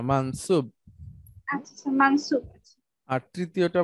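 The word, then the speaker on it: منصوب: আচ্ছা, দ্বিতীয়টা মানসুর, মানসুব উচ্চারণ করেন না, না, ব ব। আচ্ছা স্যার, আমি সবসময় এটা মানসুর পড়ে আসছে, ঠিক আছে স্যার, না, মানসুব।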